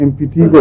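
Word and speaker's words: impetigo: जी, वही अमेरिका में टीएगो कहते हैं, ठीक। शायद उससे कुछ तलफ़ुज़ ऐसा मिलता हो, लेकिन जो प्रोनाउंसिंग डिक्शनरीज हैं उनमें इम्पिटिगो ठीक। ज़्यादा प्रिफर्ड है।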